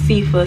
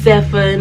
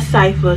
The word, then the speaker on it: Sifa: My name is Sifa, spelled S-I-F-A, pronounced Sifa, not Sefa, not Sophia, not Sophia, not Sifa, definitely not Sifa, so don't call me Sifa, call me Sifa.